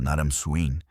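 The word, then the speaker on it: Naram-Sin: E Naramsin foi um de seus reis mais poderosos. Naramsin, cujo nome também pode ser pronunciado Naramsin, já era um grande guerreiro quando ascendeu ao trono.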